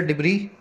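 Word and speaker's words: debris: अगला वर्ड है डिब्री। इसका एस जो है साइलेंट होता है।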